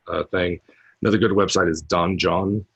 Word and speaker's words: Donjon: can have the entire dungeon just generated for you, a bare bones thing. Another good website is Donjon, although it's pronounced dungeon, DONJON, and specifically for 5th edition.